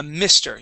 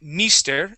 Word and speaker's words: mister: uh first off uh mister you are saying Mister using a long e sound okay that is M Mister with a short ey try that please Mister good